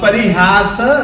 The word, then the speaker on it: परिहास: देखिए आप गौर करना अल्प श्रुतम यह भी श है और परिहास धाम यह भी स है मगर यह दंत है और इसमें जो श